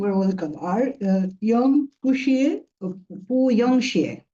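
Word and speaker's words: 不用谢: পু young শিয়ে। সো পাশাপাশি তো বসছে। সো তখন হচ্ছে আপনি উচ্চারণ যখন করবেন তখন আপনার এই পুটা 2 নাম্বার টন হয়ে যাবে।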